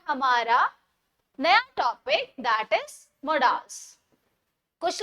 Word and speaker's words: modals: नया topic, that is मोडाल्स। कुछ लोग इसको मॉडल्स बोलते हैं, कुछ मोडाल्स बोलते हैं। मैं प्रेफर करती हूँ मोडाल्स को, ताकि हमें थोड़ा सा डिफरेंस पता लग जाए मॉडल्स और मोडाल्स में।